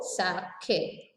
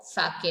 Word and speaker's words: sake: Now, you know sake. Now only we saw sake, a popular Japanese drink. Sa is pronounced like fa in father and K rhymes with way.